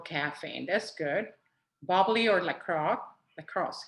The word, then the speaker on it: LaCroix: Bubbly or lacrosse. How you say it? LaCroix.